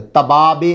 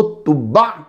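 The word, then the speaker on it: تبع: तुब्बा का माना, इन बादशाहों को तुब्बा क्यों कहा जाता था? तो जब आपने इसको प्रोनाउंस करना है तो आइन की साउंड आनी चाहिए। तुब्बा, तुब्बा तुब्बा नहीं कहना, फिर माना चेंज हो जाएगा।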